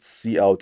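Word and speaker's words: cout: to the controlle C out that's how is pronounced C out as far C then out then this is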